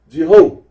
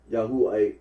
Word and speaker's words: Yahweh: of the time declar whatever therefore be the true pronunciation of the word there can be little doubt that it is not Jehovah marp honor remarks that certain